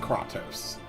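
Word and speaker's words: Kratos: spelling of his name it sounds like katos from the God of War franchise portions of this game are voice acted so we do know exactly how to pronounce it he is called katos oh no chosen one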